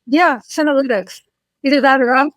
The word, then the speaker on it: senolytics: So am I pronouncing it correctly? Yeah, senolytics.